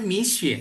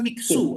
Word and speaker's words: Mixue: Sebenarnya itu diambil dari kata mi dan xue, butiran salju, ya. Jadi dibacanya itu sebenarnya mi xue. Betul. Ya, jadi dibacanya misye sebenarnya. Jadi bukan miksu, apalagi misue.